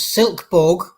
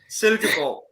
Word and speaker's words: Silkeborg: And then we have West Ham versus Silkeborg of Denmark. No, that's not how you pronounce it. No. Try again. So you say it, you pronounce it first. Silkeborg. Yeah, it's good enough.